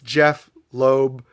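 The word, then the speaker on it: Jeph Loeb: It's Jeff Loeb, J-E-P-H, Jeff Matsuda, J-E-F-F, and the title character, Jeff, G-E-O-F-F.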